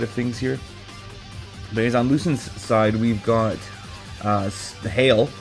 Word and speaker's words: Luisin: Today we got Onrader versus Lucian. Lucen. There we go. This is my second take here cuz I kept saying the name wrong, but I'm going to go Lucen.